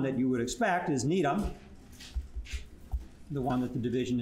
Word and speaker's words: Gnetum: You don't pronounce the G, and it is from one of the very few scientific words that comes from a non-English language.